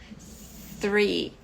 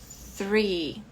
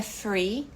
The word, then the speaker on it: three: número aqui é que não é free não é f porque free é outra palavra é livre liberdade né